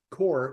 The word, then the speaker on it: KoR: comom and and of course core is spelled k r so just core whitening.